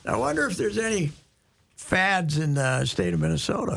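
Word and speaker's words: Pfadt: And both the both the P and the T are silent, so it's fad.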